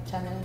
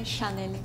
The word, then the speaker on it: Chanel: also pronounce like channel in Indonesia we say Channel with c not s in Japan we say Shel Shel in Georgia we say Shanel yeah I think they're all pronounce it like quite similar to the right way to pronounce it I mean if you go to France and ask me where Shanel is like how you pronounce it in your language